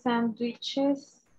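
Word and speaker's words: sandwichs: Sí, sandwiches, plurales igual. No, le agregas ese, pero no se pronuncia, entonces es sandwich.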